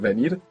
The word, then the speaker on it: venir: to visit me good the verb for to come is V ven so of course you could hear V like I just pronounced for you so you won't get the spelling venir but more commonly you would hear b b like a soft B first let's say do